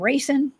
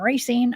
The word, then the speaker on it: Racine: Justin says it's pronounced racine. Thank you. I said racing and racine.